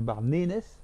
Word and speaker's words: Barnenez: Merci Jean-Jacques de nous avoir éclairé sur ce fabuleux monument qui est le cairn de Bardanès, si on veut bien prononcer.